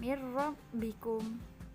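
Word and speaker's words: مِن رَّبِّكُمْ: Yang nomor 2, mirrabbikum, tidak boleh mirrabbikum, tidak boleh seperti itu.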